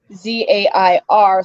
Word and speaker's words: Zayn: I actually have an alien character called Zayn, but it is pronounced Zair, so I will say Zarian or Zarian.